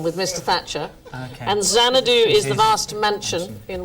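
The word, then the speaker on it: Xanadu: a stately Dome decree colid there we had zanadu is right and Mr Thatcher is right you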